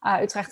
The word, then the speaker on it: Utrecht: Utrecht is always very interesting to pronounce with the hard G that we have going on.